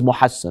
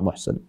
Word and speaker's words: Muhassin: Some believe the correct pronunciation is Muhassin, not Muhsin.